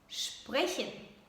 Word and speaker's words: sprechen: In German language, to speak means sprechen, sprechen. The first two letters you pronounce as sp. It's not sp, it's sp, sprechen, sprechen, sprechen, to speak.